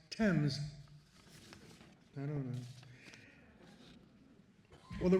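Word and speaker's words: Thames: Spell it. Say it. Fames of course. No, for whatever reason and by whoever's decision, it's pronounced temps.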